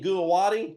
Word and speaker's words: Guwahati: We put a new office in the northeastern part of the country in Guwahati. Did I pronounce that right? Guwahati, yeah.